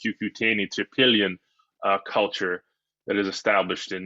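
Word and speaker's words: Cucuteni-Trypillia: the earliest uh and that's pronounced cucutini to pillion uh culture that is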